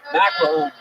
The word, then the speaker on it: McElhoney: McElhoney. McElhoney. It rhymes with tackle zone.